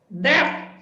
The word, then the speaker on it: debt: Okay, when pronouncing it, there is no B, so it's just that.